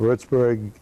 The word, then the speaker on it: Würzburg: Würzburg is how it's pronounced, and that's the home of the Würzburger beer that you see in this country a lot.